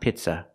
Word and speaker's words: pizza: words are pronounced differently the first word is not pizza it's Pizza we cannot use the short I sound like this is we have to use a long e sound like green beans the word is pronounced